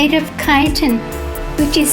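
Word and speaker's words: chitin: Although the squids lack exterior shells, they have a vestigial shell inside made of kiton, which is spelled C H I T I N.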